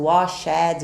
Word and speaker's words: washed: No passado a gente coloca o ed, mas não pronunciamos o washed, washed, ok? Vai ter um sonzinho de T também.